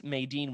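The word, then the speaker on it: Madine: Crix It's not Maydean. that hard. Yeah, Crix Maydean, General Maydean, the Darksaber. I actually need to reread the book. I think according to the Wook article I was reading, that Crix Maydean was killed by Durga, but she was angsty.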